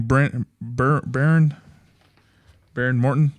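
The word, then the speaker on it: Behren Morton: Baron Morton Oh yeah, Baron Morton.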